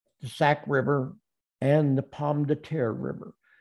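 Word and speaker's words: Pomme de Terre: sac river and the palm de terra river if you're in the ozarks you're called pom data yeah i know we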